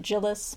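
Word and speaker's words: Djilas: DJ i l a so I'm assuming the D is silent but I just pronounce it jillis Milan jillis because of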